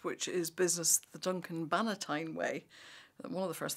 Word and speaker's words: Bannatyne: is business the Duncan Banitine way. One of the first things I had to learn when I started to write about Duncan was how to pronounce his surname and it's not Valentine.